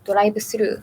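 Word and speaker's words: ドライブスルー: And for example, other words include calendar, which is called karenda, and drive-through, which is doraibusuru. Where even though the pronunciation is different, you can see that they just directly took it from the language.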